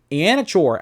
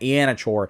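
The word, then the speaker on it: Iheanachor: Then, offensive tackle, Max Ianachor out of Arizona State. That's how you pronounce his name, by the way. I just learned that. Ianachor is how it's pronounced.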